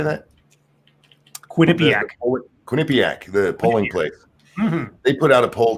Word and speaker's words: Quinnipiac: i address the the witness thing I suppose Quinny attack how do you say that Quinnipiac Quinnipiac the polling place mm-hmm they put out